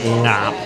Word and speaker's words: 鴨: Seeing it in print in the comments that they spell it NGO, ngo, and ngap, ngap. It took me seeing it written in English to realize that that was the correct way of saying it.